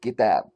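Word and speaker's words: كتاب: I'll just say it without the accent. Kitab. You see? But it's pronounced Kitab.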